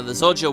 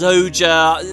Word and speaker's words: Zojja: but I think the zodia weenie by the way I also had a comment someone saying I'm pronouncing zoja wrong I know it's zoja Zodi is just like my natural inclination and I have to